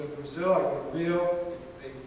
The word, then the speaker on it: Rio: Brazil, I go to Rio, they pronounce it heel, and R at the beginning of the word. In Portuguese it's pronounced as an H.